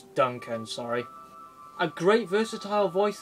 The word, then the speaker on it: Duncan: voiced his suck and I've been saying his name wrong for a very long time I said Duquesne Wis play but it's Duncan sorry a great versatile